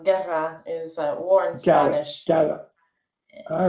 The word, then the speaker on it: Guerra: in between there and your last name is it pronounced guerrera or is it guerra i sometimes it's it could be either way yeah no it's it's the latter so guerra is uh warren all